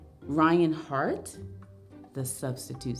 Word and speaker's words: Hart: my name is Ryan Hart and it's not heart like the muscle it's h a r t as in as in